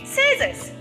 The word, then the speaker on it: scissors: Letter C silent in the word scissors.